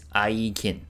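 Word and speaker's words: IGIN: Uh it is pronounced with a hard g i.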